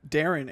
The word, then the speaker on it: Darren: in the game basically Darren Aronofsky's a filmmaker arguably a great filmmaker but he's kind of a hit or miss sometimes and his name basically just rhymes with daring instead of Darren and so I just